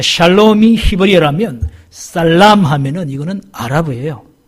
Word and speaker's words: 샬롬: 샬롬. 샬롬. 샬롬 샬롬. 네, 발음을 잘해야 돼요. 이거 잘못하면 살롬이 아니라 죽일 놈이 된다고.